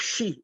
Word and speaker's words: xi: The Tsonga of she, which is spelled as xi.